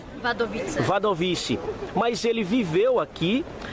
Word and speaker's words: Wadowice: É assim que se pronuncia? Wadowice.